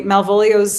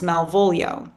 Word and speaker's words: Malvolio: And usually Malvolio's name only is pronounced as three syllables, Malvolio. So Mm, the fact that it is deliberately pronounced as four syllables here, Malvolio, yeah.